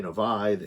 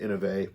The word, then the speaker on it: Inovai: talking about the innovate to make sure i pronounced it right because i know people called it the innovi in a end of a you know and